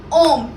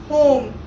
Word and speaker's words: homme: The pronunciation of HOMME is om, not home. It's om.